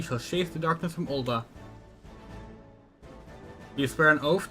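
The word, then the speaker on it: Ul'dah: Burn as one of us, Tinderbox Morning Dew, and together we shall chase the darkness from Ulda.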